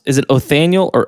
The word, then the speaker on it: Othniel: I'm not sure how to pronounce. Is it Othniel or Othniel? Just call him Othniel. Oath. It's Othniel.